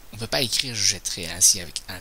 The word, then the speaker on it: jetterai: que je fais ainsi, je prononce je jetterai. À nouveau, c'est un E ouvert. Donc, si je suis la même règle que tout à l'heure, je devrais mettre l'accent grave sur le E ici, mais c'est une autre règle. Jeter. Cette fois-ci, c'est le T qui va se modifier. Le T se change en 2T devant un E muet.